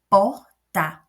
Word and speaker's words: porta: Então, porta, por é a minha sílaba tônica.